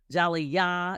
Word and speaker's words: jali: just for our listeners it's spelled j a l i yes yeah is a yeah it is a West African word for Storyteller Jal yah in some cases or